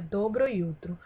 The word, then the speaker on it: jutro: Pois é, esse dobro jutro aí, na verdade, é dobro jutro. E é dobro jutro porque o J em sérvio, no alfabeto sérvio, ele não tem som de J, e sim de IU, pra gente brasileiro, certo?